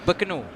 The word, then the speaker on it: Bintulu: Can Sarawak people in the comment section tell me if I pronounced that correctly? It's Bintulu, right?